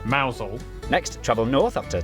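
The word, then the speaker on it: Mousehole: head over to rampam Ransom then down to mous hole mous hole next travel North up to toester toester then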